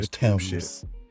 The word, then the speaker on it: Thames: I'm On the river Thames, even though it's spelled T-H-A-M-E-S.